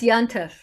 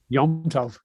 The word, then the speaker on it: Yom Tov: Yontif's another one. What's Yontif? Yom Tov. A Yom Tov is a technical term for a festival in Jewish tradition and Jewish law, but people say Yontif, right?